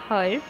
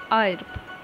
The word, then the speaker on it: herb: Now the word is herb, which is commonly mispronounced as herb, but remember it's herb. Here H is silent, so herb.